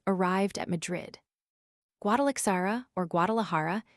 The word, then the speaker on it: Guadalajara: Guadalixara or Guadalajara is pronounced by the Spaniards with a strong aspirate. The X and J having the same force.